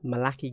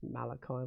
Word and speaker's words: Malachi: Yeah, Malaki Gallant says all of Kill Team's, it's Malachi, why did I pronounce it that way?